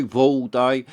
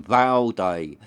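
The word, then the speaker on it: Vaude: But now with YouTube and that, people are getting the right pronunciation, so it's become Val Day.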